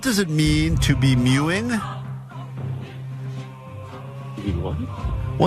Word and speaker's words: mewing: Mewuing would be the proper uh pronunciation of that. Mewing.